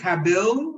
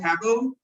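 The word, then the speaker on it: tabyl: I think it's pronounced tabil, but I'm not like table, but I'm not sure.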